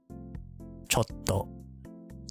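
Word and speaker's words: ちょっと: This would be cho, and this would be to, but it's pronounced chotto, chotto, not chotto, not chotto, it's chotto, chotto, chotto, chotto. It's like a half second, like half second keep, chotto.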